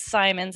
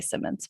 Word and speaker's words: Symonds: my last name is simon's it rhymes with diamonds i always had to tell the announcers that so they could remember because everyone wants to say simmons but thanks for having